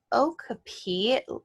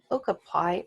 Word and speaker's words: okapi: little bit so these Ochopee or nope not saying it right okay okapi oh man I forgot